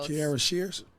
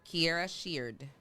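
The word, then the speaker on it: Kierra Sheard: I go to YouTube every single morning, and I go to Kiera Sheard. I think that's how you pronounce her name. And I go Kiara Shears. Kiera Sheard.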